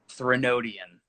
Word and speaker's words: Threnodian: So that's how you say that, dude. Wesley James's band. Threnodian.